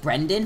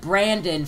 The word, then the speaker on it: Brendan: wrong and it's like it's not even a hard name to pronounce you know like Brendan for instance every single teacher I've had they've always said Brandon first and I'm just